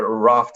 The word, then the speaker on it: Aravt: uh we call it aravat but raft is the proper way to pronounce it in mongolian and it's actually just